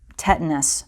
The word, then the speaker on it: tinnitus: Tetanus, also sometimes pronounced tinnitus, I prefer tinnitus, is ringing in the ears, and in the